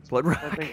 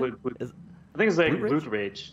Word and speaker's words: Blood Rage: Oh, Blood Rock? How do you say it again? Blood Rage.